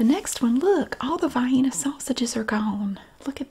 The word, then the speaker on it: Vienna: Vienna sausages are gone yes I know it's Vienna but around here it's pronounced fine and it sounds weird to say it any